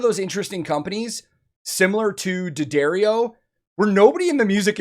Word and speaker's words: D'Addario: is one of those interesting companies similar to daddario where nobody in the music industry really has